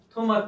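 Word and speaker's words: Thomas: 재미있는 점은 작가가 토마 피케티인데 보시면 토마스 피케티예요. 프랑스 학자이기 때문에 토마스를 토마라고 읽고요.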